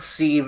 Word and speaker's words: sieve: my dumb ass thinks civ i'm like civilization like the long-standing rts series oh boy uh game